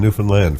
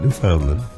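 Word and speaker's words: Newfoundland: it correctly now understand Newland folks not New Foundland not New Finland it's interesting i' I've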